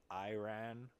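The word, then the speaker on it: ayran: It almost looks like it's spelled like Aryan, but it's missing an I, and I think it's pronounced Iran or something like that.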